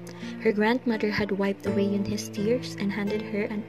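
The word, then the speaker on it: Unhei: "Une?" the girl asked, scrunching up her face. "Une," some kids chanted. "No, no," Yoon-hae corrected. "It's spelled U-N-H-E-I. It's pronounced Yoon-hae."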